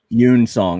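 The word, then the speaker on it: Yun-seong: huang and yang song were both cool characters yoon song that's pronounced yoon you're in song yeah you're in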